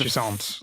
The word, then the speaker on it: Jusant: It's Jusant. yeah, it's a French word. I've seen it said 10 different ways by reviewers and stuff like that, but Jusant being the worst.